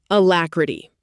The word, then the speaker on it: alacrity: Alacrity, pronounced a-lac-ri-ty.